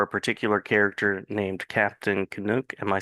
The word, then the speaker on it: Canuck: is just fine but up here they'll say kanuck kanuck okay all right all right emphasis on the second syllable gotcha gotcha schw syllable